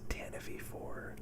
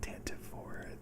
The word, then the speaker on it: Tantive IV: father bail organa's ship although it's officially pronounced tanfor not tantiv4 just i really can't get